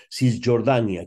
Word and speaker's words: Cisjordània: Cisjordània, que es pronuncia efectivament així, en valencià. Cisjordània, la C, per descomptat, i la J, davant de la O, cap problema, Cisjordània.